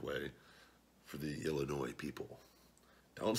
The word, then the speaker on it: Illinois: rape says goddamn it it is only people in Illinois that know the S is silent and so I might have said Illinois's on the video I